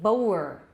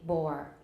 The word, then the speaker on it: bore: Now, I don't say boer. Sounds like 南部腔. Boer, I say bore.